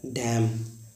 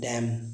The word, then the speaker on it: damn: एक होता है डैम, DAMN, डैम, डैम का धिक्कार।